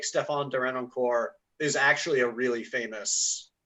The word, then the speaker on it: Derenoncourt: How do I pronounce his last name? Derenoncourt?